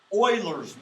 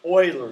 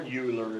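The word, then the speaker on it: Euler: to do here in chapter six it's called Oilers method Oiler is how you pronounce that Oiler okay or uler if you want but it's really pronounced oil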